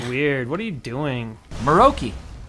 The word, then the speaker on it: Morokei: Maroki. Morikai. Maroki. Who says it's Maroki? I do. Why would it be pronounced Maroki?